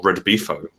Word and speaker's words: Redbifo: You play agents of the Russian Drunken Bear Fighting Organization, or Redbifo, as it's pronounced, and that's expressly stated in the text.